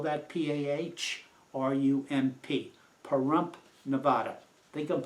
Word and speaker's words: Pahrump: Firearms Training Institute in Pahrump, Nevada, and I'll spell that P-A-H-R-U-M-P, Pahrump, Nevada.